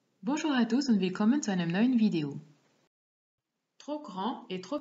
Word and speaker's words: grand: Ihr bemerkt, dass man grand und petit mit einem E schreibt, wenn das Nomen weiblich ist. Die Aussprache ist auch etwas anders. Ich lese noch einmal vor. Le pull est trop grand. La chemise est trop grande. Le pull est trop petit. La chemise est trop petite. Hier werden das D und das T nicht ausgesprochen.